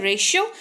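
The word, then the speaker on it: ratio: टी के बाद अगर IAIEIO हो तो टी का उच्चारण श होता है, रेशियो।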